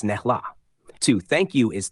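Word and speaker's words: snälla: polite phrases one please is snella pronounced snela two thank you is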